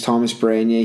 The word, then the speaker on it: Tomas Baranyai: Yeah, so he just butchered my name, but my name's Tomas Baranyai.